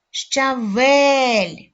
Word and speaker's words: щавель: голосний л М'який приголосний визначимо наголошений склад визначили Давайте перевіримо щавель наголошеним є другий склад розглянемо наступний малюнок ви